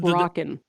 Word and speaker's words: Brocken: Is it a broken specter or a Brocken specter? Because it's spelled with a CK. And I was like, I too was learning that for the first time. I thought it was Brocken. It's probably Brocken because it was named after Jeffrey Brocken, who discovered.